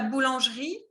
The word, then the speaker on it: boulangerie: Qu'est-ce que ça veut dire, la boulangerie? Panadería. Ok. Répète après moi. On dit boulangerie. No se pronuncia la E. La primera E es muda.